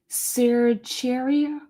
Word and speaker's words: certiorari: Cercheria. That's how you say it. The T you don't say the T in there.